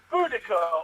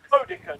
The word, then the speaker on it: Boudica: I am a Boudica, or Boudica, depending on your pronunciation.